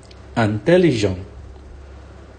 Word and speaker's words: intelligent: Intelligent, intelligent. So the T is silent here, intelligent.